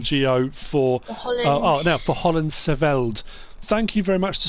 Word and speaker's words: Hollandscheveld: Sandor messaged and said the CH in HOLLANDSCHEVELD is silent. So it's HOLLANDSCHEVELD, not HOLLANDSCHEVELD. So thank you for that.